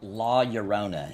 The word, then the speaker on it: La Llorona: Yorona. Yeah, La Llorona, he says it's pronounced.